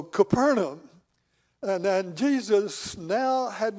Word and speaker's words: Capernaum: I hope I did, because for years I said it wrong. I really did. And finally, some folks that were from there, they told me, says, now, this is the way you say that word. So Capernaum.